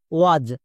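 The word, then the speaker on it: was: Next example, W এ এস এর জন্য কি উচ্চারণ হবে? এখানে দেখো আবার এ এর পরে এস আছে, তার মানে এ এস এর জন্য অ্যাজ হবে। যেমন আমরা জানি ডব্লিউ এ এর জন্য উচ্চারণ হয় ওয়া প্লাস এর পরে এস আছে, তাই এস এর জন্য বর্গীয় জো, মানে ওয়া প্লাস বর্গীয় জো, ওয়াজ।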